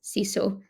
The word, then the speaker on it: sisu: not sauna it's Sal it's not sisu it's siso and that interviewees um